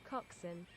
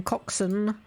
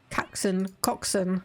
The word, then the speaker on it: coxswain: think it is uh change to British pronunciation please coxin okay it is pronounced the way I thought it was then coxon what about the American one coxson okay uh white school